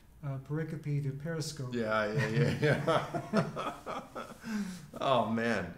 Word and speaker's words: pericope: Gary Habermas years ago corrected me. I said pericope. And he said, Mike, it's pericope.